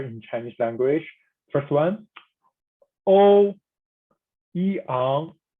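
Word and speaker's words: Ouyang: First one, O Yang, O Yang.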